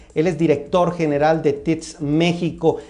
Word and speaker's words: Teads: Él es director general de TITS México. Él me corregirá cómo se pronuncia, Fernando. Como lo dijiste perfectamente, TITS México. Perfecto.